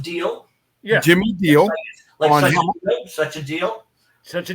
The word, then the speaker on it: Diele: Diele, pronounced Deal.